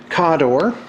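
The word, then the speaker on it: Khador: There's Cawdor. In fact, let me give you the proper pronouncements. It's Cygnar, Cawdor, Crix, give you more details here in a minute, Crix, Menoth.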